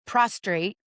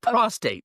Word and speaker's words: prostate: that cell had a prostrate. Did I do it again? I did. You did say prostrate. You lay prostrate at the foot of pronunciation of prostate.